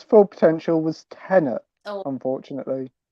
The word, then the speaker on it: Tenet: its full potential was Tenet, unfortunately. Tenant, not Tenet. Tenant. Tenet. That's how it's pronounced. Tenant! As in you are a tenant in a fucking house.